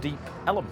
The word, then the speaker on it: Deep Ellum: And so we're deep on Elm Street, and in the old days they used to pronounce it Ellum. So it kind of stuck, Deep Ellum.